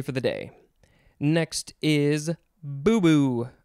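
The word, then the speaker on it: boubou: I think it's boo-boo. B-O-U-B-O-U. Noun from 1961. A long flowing garment worn in parts of Africa. This is from a Malinke word. I think that's how it's pronounced. Maybe.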